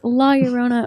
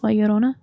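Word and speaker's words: Llorona: Oh, but I mean like if you pronounce it how you're actually supposed to. It's Leorona.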